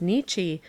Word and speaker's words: Nietzsche: from oberlin but doesn't that precisely correspond with nitch's idea he meant i supposed nietzsche but he pronounced it to rhyme with of the dominance